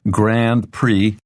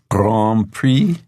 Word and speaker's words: Grand Prix: lesson but Grand Prix even though this ends with i x it's a French word and so it's pronounced pre Grand Prix Grand Prix yes me too very